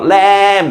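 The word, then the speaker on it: lamb: 영어 단어가 mb로 끝나면 모든 단어는 이때 비무음입니다. 웅부 아니고 웅 자 새끼양 새끼양 야 새끼양 새끼양 어 램 하고 울잖아요. 램 램 발음 어 폭탄 본부 아니고 뭐예요? 밤 됐죠?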